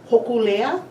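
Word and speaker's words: Hōkūleʻa: pronounce that? Hokulea, Hokulea.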